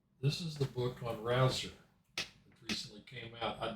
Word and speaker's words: Rauzer: A chess biography of Sesvolod, how do you pronounce his name? Rouser.